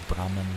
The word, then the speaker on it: Brahman: He pronounces Brahman like bramble and compares karma to a well-behaved postman.